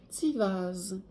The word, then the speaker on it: Tiwaz: Ça se prononce, la carte Tiwaz se prononce Tivaz.